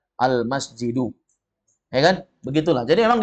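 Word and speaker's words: المسجد: kita sudah tahu misalnya ada tulisan Alif Lam Mim Sin Jim dal bacanya almasjid Ya kan enggak mungkin almisjad almusjud pasti bacanya almasjidu Ya kan begitulah jadi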